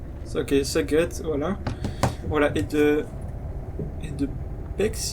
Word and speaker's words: Szeged: Ça se prononce comment? C'est quoi? Szeged. Ok, Szeged, voilà.